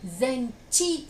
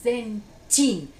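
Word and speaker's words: Zenchin: es chin, o sea, aquí no se pronuncia zenchi, sino que zen chin.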